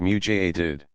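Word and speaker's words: mujaddid: up for the community a muted pronounced mutated a renewer who calls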